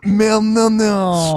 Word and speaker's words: Molyneux: I think it's pronounced Molyneux. Yeah, it Molyneux. is. You're right. Is it? Molyneux. Okay. Yeah, that's the only time on the Drunken Peasants that his name will be said correctly. Stefan Molyneux.